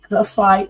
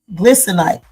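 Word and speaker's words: glycinate: I think I take the magnesium casite. I pronounced that. It's let me see. It's magnesium G L glycinite. G L Y C I N A T E.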